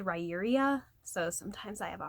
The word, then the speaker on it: Riyria: He is very skilled at combat, and for a long time before being part of Riyria, it's spelled like it's supposed to be said, Riyria, so sometimes I have a hard time saying it.